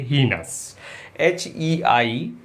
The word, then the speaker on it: heinous: आगे बढ़ते हैं हम, और जो नेक्स्ट वर्ड है हमारे पास वो है हीनस, HEINOUS। पहले तो स्पेलिंग पे ध्यान दें, EI है इसमें, IE नहीं है, हीनस।